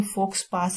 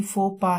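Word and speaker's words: faux pas: दिखने में ये फोक्स पास लग रहा है लेकिन प्रोनाउंसिएशन तो इसकी फोपा है, सामाजिक गलती, या कह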